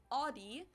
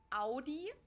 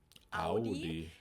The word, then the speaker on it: Audi: Germany versus USA yeah most America announces like I just said it Audi the German we say Audi Audi and there was actually